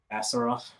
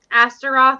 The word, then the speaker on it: Astaroth: How do you pronounce her name again? Astaroth. Astaroth.